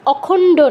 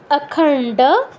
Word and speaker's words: অখণ্ড: তারপর প্রণাম মন্ত্র কি আছে, ওম অখণ্ড মণ্ডলাকারম, অখণ্ড নয় অখণ্ড, মূর্ধন্য ড সংযুক্ত আছে, অখণ্ড মণ্ডলাকারম ব্যাপ্তম, ব্যাপ্তম